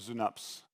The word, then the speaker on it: Synapse: here, and this is, in German, is pronounced Synapse, which very much sounds like Schnaps, which is not what we mean.